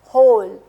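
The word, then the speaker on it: hole: प तो ओ रोल होल वन वाल साउंड च इ the first vowel O then E sound क्योंकि वो साइलेंट है तो मैंने इसको प्रोड्यूस नहीं किया सिर्फ होल पे एंड कर दिया एल यहां पे भी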